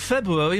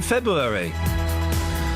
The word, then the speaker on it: February: There are two Rs in it. People don't pronounce the first R in February.